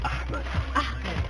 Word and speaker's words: Ahmed: It's Ahmed. Come back. Use your throat. Ahmed.